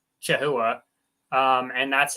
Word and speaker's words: chahoua: So if you look at it as an English word, it should really probably be pronounced chahoua.